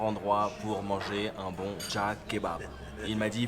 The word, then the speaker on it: Cağ: Alors ça s'écrit C-A-G avec un petit accent, mais le G avec le petit accent, ça allonge la voyelle, donc c'est Cağ Kebab.